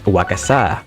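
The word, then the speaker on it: 和傘: Kasa-Obake Piper addresses Piper in a beautiful kimono while carrying a gigantic paper umbrella, which is actually pronounced as wakasa.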